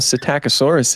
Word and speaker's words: Psittacosaurus: Well, Psittacosaurus in general.